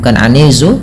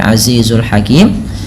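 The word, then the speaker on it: العزيز الحكيم: an kemudian alizul hakimzizi ini bukan anizu tapi Azizul hakim hakim ada bacaan Mad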